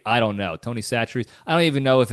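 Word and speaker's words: Tony Chachere: we I call it Tony chacher because that's how it's spelled it's spelled like an Italian guy Tony chacher but I guess it's pronounced satchery I don't know Tony satcher I don't even know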